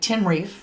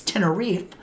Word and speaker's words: Tenerife: I was like, Tenerife, right? Now I know it's Tenerife.